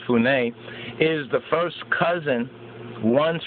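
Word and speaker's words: Funnye: Capers C. Funye Jr., pronounced Funé, born in 1952.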